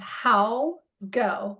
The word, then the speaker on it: Jan: It's how go like how go how go.